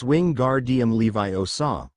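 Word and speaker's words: Wingardium Leviosa: You're saying it wrong, Granger harped in her bossy know-it-all voice. Its wing guard Levi Osaw. Make the gar nice and long.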